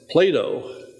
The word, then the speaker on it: Plato: someone else number four Plato rhymes with tomato as Thomas eigen says